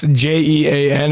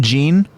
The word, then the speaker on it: Jean: I think Aaron's daddy um I say it's j-e-a-n it's pronounced Jean yeah Jean it's kind of like a friend in like French pronounced like SC it looks like the word like like denim denim jean like it looks like Jean you know but